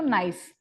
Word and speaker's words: gneiss: For example, granite because of the pressure it has changed to gneiss. See, G is silent here.